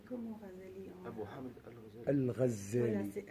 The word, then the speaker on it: Ghazali: On peut prononcer en français Ghazali, c'est-à-dire avec la véritable prononciation arabe. Quand on dit Ghazali, c'est une prononciation à la française, comme on dit Khadija, parce qu'on l'écrit KH, mais je sais pas, je trouve pas ça forcément... Bon, du coup, c'est Ghazali pour nous.